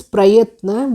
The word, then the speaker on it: प्रयत्न: Next is prayatna, where pa is half, then ra, then ya, then half the and na.